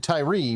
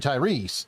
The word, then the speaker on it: Tyrese: right I was like I was saying Tyree but it's actually Tyrese and I didn't realize it I I knew oh